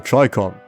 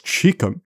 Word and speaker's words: Chicom: The Chicom. Yes, that's right. I'm still calling it that because Chicom is a daft pronunciation and I refuse to say it.